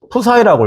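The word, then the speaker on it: ψ: 자, 주현이가 지금 쓰러져 있어서 지금 대답할 사람이 없는데 책에 보니까 얘를 푸사이라고 읽어요. 부사이 사이라고 읽는데 푸사이 그리스 문자예요.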